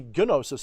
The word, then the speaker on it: gnosis: had the experience of gnosis gnosis gnosis however you like to pronounce it some people would even say gunosis and they're not entirely wrong but i think the correct original way of saying it was gnosis but yeah like the